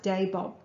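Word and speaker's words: Dabob: torpedo trials i believe the area was called dabod bay from pronounced day bob but i'm not sure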